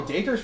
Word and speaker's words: Dacre: Oh, Dacre's from Australia.